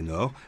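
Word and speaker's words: Naours: À Naour, prononcé Nord, les élèves de primaire peuvent redécouvrir la langue.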